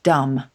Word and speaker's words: dumb: I think it followed dumb, where we have the final B, but again, don't pronounce it anymore.